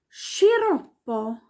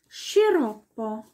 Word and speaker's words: sciroppo: SC vor E und I wird als Sch ausgesprochen. Sch. Wie zum Beispiel Pesce. Das ist der Fisch. Pesce. Oder Brescia. Oder Sciroppo. Der Sirup. Sciroppo. Alles wie ein Sch.